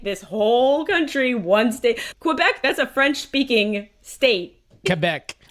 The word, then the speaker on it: Quebec: don't say it they don't even know how to say it right is yeah not que back quec quec anyway no wrong wrong yeah